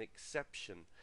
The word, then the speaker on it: exception: Exception, it's an exception, okay, and so the stress there, exception, is on the second syllable.